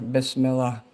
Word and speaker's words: Bismillah: Bismillah means in the name of Allah. And that's how you say it there. Bismillah.